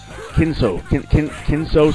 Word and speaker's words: Kenzo: let me see here, Kenzo Sasaki. Yeah, you gotta say it like the Japanese, where you go like, Kenzo!